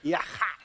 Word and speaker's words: yachad: Say yachad. Yach. Say the D.